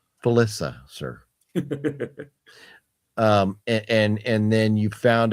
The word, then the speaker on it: Felissa: if you were, say, 13 and you were in that camp and Felissa Rose is there and you're thinking, Alicia oh, Rose. You're saying it wrong. Felissa, sir.